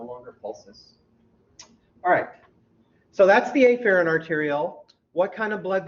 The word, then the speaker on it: afferent: you might have said, afferent. I say afferent, so you cannot miss that it starts with the -a.